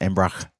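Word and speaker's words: Embrach: and I thought, "Yeah, I need to say it properly like a Swiss person." That is Embra.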